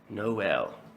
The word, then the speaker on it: Noel: Noel. Like Noel. there is Spelled like there is no well in your town, or Yeah, Noel.